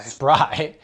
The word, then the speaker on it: Spry: It's Spree, or is it pronounced Spry? Spry.